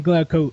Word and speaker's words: Glauco: myself with music hello and good morning glow Co if that's the right pronunciation yeah you got it yeah man I